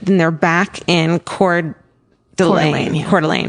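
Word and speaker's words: Coeur d'Alene: Cordelane is how you say it.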